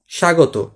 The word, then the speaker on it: স্বাগত: তারপর এটা স্বাগত। শুরুতে হয়েছে, কোনো উচ্চারণ হয়নি। তার মানে মফলা যেরকম শুরুতে হয়েছিল কোনো উচ্চারিত হয়েছিল না, এখানে ব শুরুতে হয়েও কি হয়েছে? উচ্চারিত হয়নি।